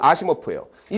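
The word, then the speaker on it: Asimov: 발음은 아시모프예요.이 사람이 published 출판했어요.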